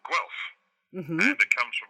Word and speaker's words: Guelph: that sign and spent the next 6 months pronouncing it Galoof. And it is now stuck in the family. That city is never Guelph in our family.